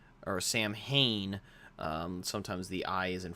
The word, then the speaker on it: Samhain: that looks like the word, it looks like Samhain, or Samhain. Sometimes the I is in front of the A, but it's actually pronounced Samhain.